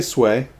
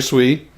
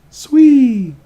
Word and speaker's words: Sui: Okay, we'll say Sway. Or, I'm sorry, Sui. Not Sway. Sui.